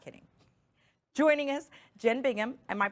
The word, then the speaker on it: Jen Bingham: Joining us, Jen Bingham. Am I pronouncing that correctly?